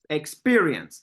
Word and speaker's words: experience: okay experience absolutely again experience second syllable is the one that is stressed uh Nicole number five